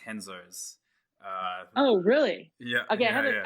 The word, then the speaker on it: Renzo: I'm at the Renzo Gracie gym. Do you do jiu-jitsu as well? I do jiu-jitsu. Of course you do. So this place, it's actually I should help you out here. It's pronounced Henzo's.